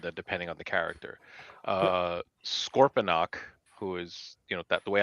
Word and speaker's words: Scorponok: Sometimes it sounds like Scorponox, with an X at the end.